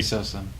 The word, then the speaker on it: Sosa: i believe in you jesse saw some is that how you say it yep cool we did everything